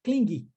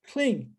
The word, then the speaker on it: cling: Não vamos enfatizar o G, tá? E eu sei que no português, muitas vezes, a sílaba tônica mais forte é a última. Então, a tendência das pessoas é pronunciar cling, né?